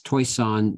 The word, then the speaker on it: Toishan: I always get criticized by the way I pronounce taishan and it's toisan but basically most of the individuals who came